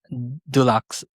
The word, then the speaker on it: Dulux: and later worked in business development at PPG Dulux if I pronounce it correctly.